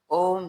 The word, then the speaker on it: ओम: हम आपको बता दें ओम शब्द तीन वर्णों से पूर्ण होता है। जिसमें प्रथम आ दूसरा उ और तीसरा म इन तीनों के संयुक्त उच्चारण से ओम का उच्चारण पूरा होता है।